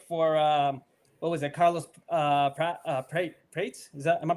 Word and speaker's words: Prates: Barnacle Boy, man, you made the pick for what was it, Carlos Prates? Am I pronouncing that correctly? Yeah. Prates, so.